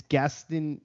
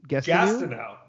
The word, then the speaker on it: Gastineau: How do you pronounce his last name? I don't. I know how. I. It's Gastineau. Gastineau.